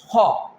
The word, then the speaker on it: خ: This pair is pronounced from that part which is towards your mouth. How can we pronounce this pair? Ghain Khaa. Ghain Khaa.